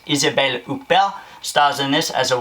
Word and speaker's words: Isabelle Huppert: an amazing French actress who I love to pronounce her name in a French accent. It's Isabelle Huppert, stars in this as